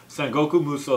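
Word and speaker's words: Sengoku Musou: is actually dynasty warriors four but it's actually pronounced sengoku muso three shin sun goku muso three so there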